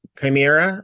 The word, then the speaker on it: chimera: Yeah, it's Chimera or Chimera.